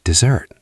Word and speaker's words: dessert: Dessert has stress on the second syllable. We say dessert.